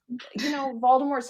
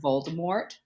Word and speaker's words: Voldemort: Did you know that also technically his name is French, so it's not actually supposed to be pronounced Voldemort? I know, but I hate leaving off the T.